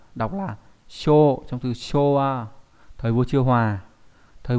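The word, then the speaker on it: 昭和: Chiêu hòa, đọc là show trong từ showa, thời vua chiêu hòa.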